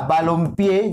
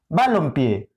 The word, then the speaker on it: balompié: pero ahora que está balompié ya no es conocida o tiene tres sílabas va low pie y cuando suena más balompié balompié balompié suena más pie por tanto ahora se